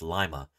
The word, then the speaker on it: Lima: done fieldwork right here near the town of Lima Montana it's spelled just like Lima Peru but it's pronounced Lima so I've done fieldwork here um digging up